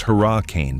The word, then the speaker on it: Hurricane: Starting at number 10, Hurricane, pronounced Hurra-cane by locals cuz saying it the normal way gets you side-eyed at the gas station.